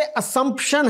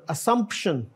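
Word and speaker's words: assumption: और आगे जो है ये असम्पशन है, जेड नहीं है, एस ही है ये, इट is pronounce the वे इट is written, असम्पशन, अस्यूम, आई अस्यूम यू आर a graduate.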